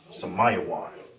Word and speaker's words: Simeon: Now you pronounce this is Samayawan.